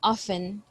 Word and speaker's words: often: school good there is there is a letter t here but i don't pronounce it so i just say often often and in the